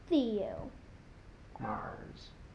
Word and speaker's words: Theomars: if I got it Theo Mars he comes from Mars cuz that's why his name is Theo it rhymes with Leo which rhymes with I'm